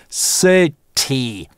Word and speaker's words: city: Sit - первый слог, а в конце открытый слог получается второй /iː/, потому что только на /iː/ может закончиться слово. Sit-ee. И только так. Только единственным образом можно произнести это слово.